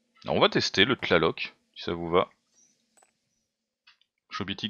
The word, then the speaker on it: Tlaloc: Mais il faut prononcer le T de la loc. A Tlaloc.